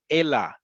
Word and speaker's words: אלא: Ela with an aleph at the end. It is not ele. It is not any other thing. It is ela. It has to be spelled and pronounced.